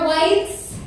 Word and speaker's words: Weitz: Anyway, you guys, my name is Weitz. That is white spelled like a Jew, not like a skinhead.